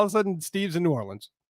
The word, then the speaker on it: New Orleans: Yeah, all of a sudden, Steve's in New Orleans. New Orleans. Oh, New Orleans. That's how they say it. In New Orleans. They don't really, they just kind of let it run together.